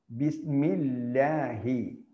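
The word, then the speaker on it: بسم الله: ഇകാരം ഉള്ള അക്ഷരമാണെങ്കിൽ അതിനെ എന്തു ചെയ്യണം ഒറിജിനൽ ലായുടെ ഉച്ചാരണമായിരിക്കും. ബിസ്മില്ലാഹി ബിസ്മില്ലാഹി.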